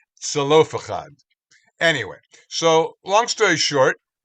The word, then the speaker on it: Zelophehad: you who know Hebrew, if you look at the Hebrew, there's a chet in there, but most of the transliterations do not put a ch. They just pronounce it as an h, which is obviously not correct. So it's not even a z. It's like it's a tzadi. It's Zelophehad.